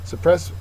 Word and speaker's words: suppress: not really violent but suppress uh is a verb second syllable is accented it means to stop